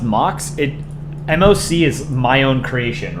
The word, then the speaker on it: MOC: Is it pronounced Mox?